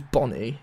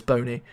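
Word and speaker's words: Bony: But surely if it was Bonnie, it would be B-O-N-N-Y or B-O-N-N-I-E. Maybe it's just me being pedantic, but it's Boney. So yeah, Wilfred Boney, £14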